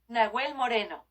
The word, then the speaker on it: Nahuel Moreno: Spanish to English. I think H's are silent. If I took fucking Spanish in undergraduate. Nahuel Moreno.